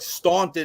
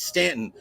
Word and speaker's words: Staunton: It's not Kazies, it's not Buchanan, it's Buchanan, it's not Staunton, it's Stanton.